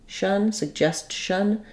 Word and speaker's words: suggestion: the same so the the CH sound is made up of moving from the T position behind the teeth to dropping down to the sh position it's just quick and